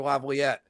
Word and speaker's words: Laviolette: They're coached by Peter Laviolette, who has the most wins for an American-born head coach.